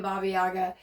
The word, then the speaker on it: Baba Yaga: know that you know Baba Yaga the name babiaga some people say it like it means old Crone